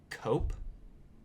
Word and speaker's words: Koepp: So, the screenplay was written by a guy named David, I think it's Cope. How do you spell it? Koepp. Okay. Cope.